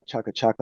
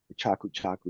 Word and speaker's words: chaku chaku: a flow line uh chucka chucka line chaku chaku to say it properly um line um you